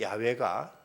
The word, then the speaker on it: 야훼: 붙였더니 이것이 여호와 또는 이제 그 영어로는 제호바라는 발음이 여기서 이렇게 나오게 되는데 그런데 훗날에는 야훼가 더 원음에 가깝던 것으로 이렇게 이제 학자들은 발견하게 됩니다.